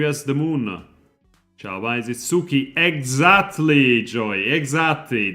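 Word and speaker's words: つき: the moon is it Suki exactly Joy exactly that is how you pronounce moon in Japanese it is suuki very good that's why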